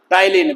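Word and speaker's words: ptyalin: इसी का नाम जो है सलाइज का नाम टलीन भी है। पी इसमें साइलेंट है टलेन।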